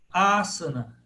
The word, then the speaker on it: Asana: Terceiro componente aí, do Ashtanga Yoga, Asana. Proparoxítona, ó, Asana. Por quê? Porque a antepenúltima é que é a longa pesada.